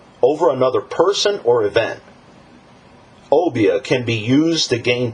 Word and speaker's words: Obeah: The first one, just want to touch on, is called the Obi. Now, some pronounce it Obia.